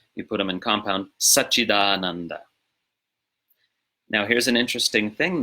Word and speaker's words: Sac-cid-ānanda: So when you're pronouncing it as a compound, it's not Sat, Chit, Ananda, it's Sac-cid-ānanda, as you see it written. Sac-cid-ānanda. So the T of Chit becomes a D, before following voiced vowel, and the T of